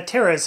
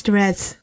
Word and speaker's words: Terez: it i know uh terrace has thoughts on how toyotaro writes goku's dialogue you said my name wrong it's dress yeah but you say